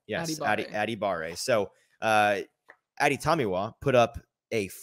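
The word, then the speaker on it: Adebawore: Adebawari. I'm going to get out the actual pronunciation guide. Is it Adebawari? I believe so. I can tell you for sure it is Aditamiwa Adibare. Yes, Adibare.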